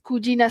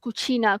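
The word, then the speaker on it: cugina: Okey, also jangan pronounce kujina salah. Jangan pronounce kucina. Kucina tu adalah dapur. Okey. Kitchen. So similar pronunciation hampir tapi maksud yang very much berbeza.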